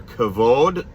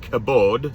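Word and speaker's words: kavod: is the Hebrew term alternately readable as either cavod SL cabode so you can spell it with a v as in Violin or B as in boy or cavod with an a instead of an e cavod and cabode it deres from a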